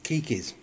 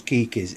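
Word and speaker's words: Keikis: a quick rundown on Kikis Orchid Kikis spelled ke i k i it's a Hawaiian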